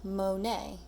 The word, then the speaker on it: Monet: It has a T at the end, but he's French, so we don't actually pronounce the T. So we pronounce it saying Monet.